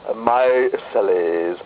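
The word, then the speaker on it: micelles: Hollow cical structures called my celles pronounced my cell oh they form a bubble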